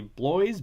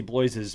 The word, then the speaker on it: Bloys: was an interview with HBO's network president Casey boys BL o YS so here we go with pronunciation on the show saying that the reason